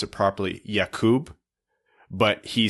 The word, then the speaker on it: Jakub: It's actually, if you want to pronounce it properly, Jakub, but he says he's okay, or even prefers just Jacob or Jake.